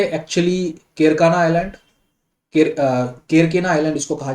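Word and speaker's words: Kerkennah: से एक है एक्चुअली केरकाना आइलैंड, केरकेना आइलैंड इसको कहा जाता है, केरकेना आइलैंड, प्रोनाउंसिएशन उसका केरकेने है, और दूसरा है जेब्रा आइलैंड।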